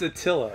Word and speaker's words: Attila: atla I think it is how do you pronounce that one it's Attila Attila oh shoot oh as you can see